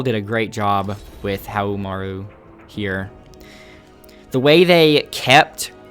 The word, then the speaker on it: Haohmaru: are on to the homo to mirror matches and I have to say it that way it's impossible to say how normally because that's how they say it in Sam's show all right the way